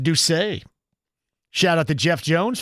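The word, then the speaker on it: D'Ussé: Apparently, Bill says the cognac we're talking about, Ducay, is made by Jay-Z. Oh, really? It's pronounced dooay.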